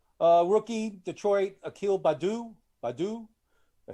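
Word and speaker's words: Akil Baddoo: Rookie, Detroit, Akil Badu.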